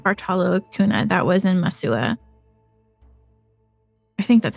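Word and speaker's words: Massawa: Acuna, that was in Masua. I think that's how you say it. Which Masawa? is a city. Yeah, it's like pronounced like a W.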